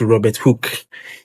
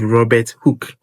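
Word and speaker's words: Robert Hooke: Others to say Robert Hook but please it is Robert Hook. Yes. So the hook is spelled H O O K E.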